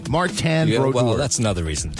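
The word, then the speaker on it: Martin Brodeur: But if your name is Martan Broaddor, then don't spell it M A R T I N. He's French Canadian. Martan Broad.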